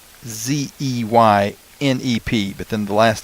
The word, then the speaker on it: Zeynep: But if you just spell it out, the Zeynep is pretty close to phonetic, Zeynep, but then the last name Avci.